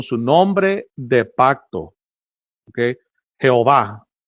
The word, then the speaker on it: Yahweh: Eso no, sino que en realidad, porque son las 4 letras, el tetragrammaton, que en realidad no se sabe cómo se pronunciaba, pero muchos dicen que la manera más correcta sería Yahweh.